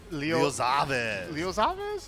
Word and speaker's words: Leoxaves: How do you say it? Leoxaves? Xavis? Leoxaves. Okay, I like that.